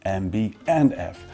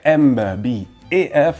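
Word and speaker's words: MB&F: will use the English version with the N, MB and F. Well, if you hear MB et F, well, you know that that person never heard about the brand before.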